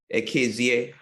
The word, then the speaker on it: Ekezie: to month uh Duke akza um I hope I said that um yeah you actually you pronounced it well it was thousand dollars